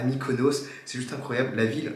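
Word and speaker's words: Mykonos: coup 10 jours à micono 10 jours 10 jours oui c'est ça je crois j'ai un erreur de prononciation on part du coup 10 jours à Mikonos c'est juste incroyable la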